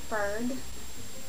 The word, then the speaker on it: Freg: My name is Ferg, and it's spelled F-R-E-G.